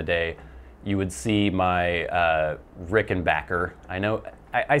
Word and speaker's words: Rickenbacker: back in the day you would see my Rickenbacker I know I say Rickenbacker I know it's technically supposed to be Rickenbacker